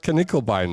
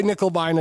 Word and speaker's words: Knickelbein: No, I'm going to go with Knickelbein now that that's the correct pronunciation. I shall never say Nickelbein again.